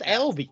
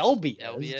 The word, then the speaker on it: Albies: Yeah, it's just Albies. Yeah. Albies. Just because he's Hispanic doesn't mean his last name needs to end in E-as.